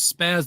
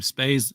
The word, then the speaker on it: Spaz: Woody that that is Spaz the cat make sure that that's always spaz with a short a vowel sound um if you if you uh call him space space the cat yeah no he's uh